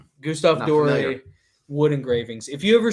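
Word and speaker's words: Gustave Doré: been for 20 years now i absolutely love gustav dorey gustav dory wood engravings if you ever see any pictures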